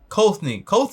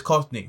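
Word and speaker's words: Kothney: It sounds like Courtney, but it's not Courtney. It's Kothny. So I don't know.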